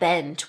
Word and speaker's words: Abend: So a 'd' will make a 't' sound, such as in the word are 'Abend' (Abent), which means evening. 'Guten Abend' (Guten Abent), right, 't' sound.